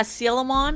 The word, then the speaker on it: Coelamon: okay yeah oh yeah seal them on or coelamon coelamon I think that one's supposed to be pronounced as seal right like cuz it's a seal sh yeah and then